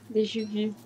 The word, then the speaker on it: déjà vu: Como se os franceses falassem. Déjà vu.